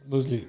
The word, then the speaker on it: Nomoozlie: Did I pronounce it properly? Nomoozlie. Yeah. It's Nomoozlie.